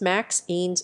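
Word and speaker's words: MXenes: materials are known as mzines pronounce maxines or is labor intensive as good quasas mzines were discovered in 2011.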